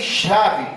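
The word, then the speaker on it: שָׁוְא: expressão grega epmo impensadamente o substantivo Chau pronuncia pronuncia se chave significa vaidade vacuidade corresponde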